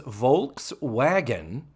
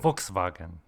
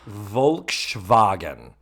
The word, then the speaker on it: Volkswagen: misprononunciation right it is vulk wagon and and in German I am told that the v is pronounced more like an f so that's so it's a folkvagen folkvagen is how you say